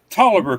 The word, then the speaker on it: Taliaferro: pronounced Tolliver County, but it's spelled Taliaferro.